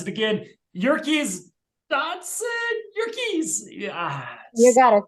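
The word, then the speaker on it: Yerkes-Dodson: Oh God, I won't mispronounce it again. Yerkes Dodson, Yerkes. Yeah. You got it. Yerkes Dodson.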